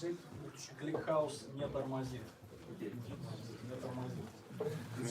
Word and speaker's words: не тормозит: How do you pronounce it? ClickHouse не тормозит.